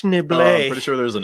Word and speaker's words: Schneebly: you just call me schneebly it's actually pronounced schnible pretty sure there's an s in it enough